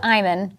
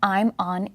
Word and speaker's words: Imon: It's pronounced Imon.